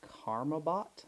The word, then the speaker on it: Karambit: It's the Karambit, I believe is how it's pronounced.